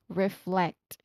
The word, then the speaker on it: reflect: So first is re, and then second syllable is flect.